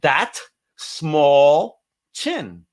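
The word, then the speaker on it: Dastmalchian: He goes, that small chin, and that's how you pronounce my name.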